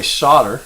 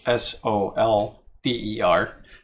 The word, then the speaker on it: solder: And by the way, solder, spelled S-O-L-D-E-R, is for some reason pronounced here in America as solder, like as in S-O-D-D-E-R, and really it's solder.